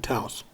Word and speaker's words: Taos: I keep saying Moab, and then I'm like, oh no, it's probably like Taos. We're only supposed to say it's like one word instead of two. There is only one syllable in Taos.